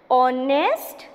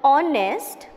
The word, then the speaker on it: honest: Now please see this one, an honest man. Now here when we say the word honest, H is silent. We do not pronounce H.